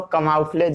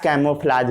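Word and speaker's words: camouflage: उसके बाद हम लोग बात करेंगे कैमोफ्लाज क्या होता है। इसको कमाउफ्लेज भी पढ़ा जाता है या कैमोफ्लाज भी आप पढ़ सकते हैं, जो पढ़ना है वो पढ़िए।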